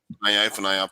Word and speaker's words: Ifunanya: That's Ifunanya, perfect.